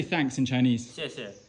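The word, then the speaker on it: 谢谢: 谢谢.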